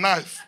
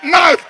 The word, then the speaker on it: knife: change the go post they said K is silent and knife if he's silent what is he doing there why don't you take it out so we can say knife no that it's too